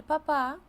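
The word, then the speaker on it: papá: наголосу іспанською буде летильде якщо стоїть графічний наголос ми читаємо слово з наголосом на цій літері на ці голосній і крім того дивіться Тут іще міняється значення Ель папа - це тато і папа Це Папа Римський Латинській Америці кажуть ла-папа на картоплю але там Артик інший тут же різниця у наголосі ельбаба тато і є папа Папа Римський цікава тема слова грецького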